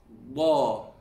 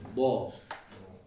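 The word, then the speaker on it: ض: Now, you're pronouncing it correctly, you just need to bring the back of your tongue up.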